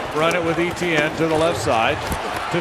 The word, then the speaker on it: Etienne: He came out and said, "My name is not Travis Etienne, it's Travis Etienne." So, you know what I'm saying? Travis Etienne. Uh Etienne. Like basically like Devon Etienne, but like Travis Etienne.